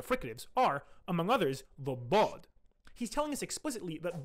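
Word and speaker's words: ضاد: We also know the sound was voiced and emphatic, like the modern bod, which is corroborated by Sibawayh. Using all of this evidence, a number of different proposals have been put forward for bod's classical pronunciation. Take this sound, for example, blo, which is a combination of emphatic D and emphatic L.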